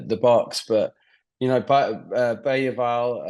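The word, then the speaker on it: Bergvall: box but you know bayal um if that's how you pronounce it I think that's did hear that that's how you're supposed to do it but I'm going to stick to bergville because it's easier for me yeah definitely easier yeah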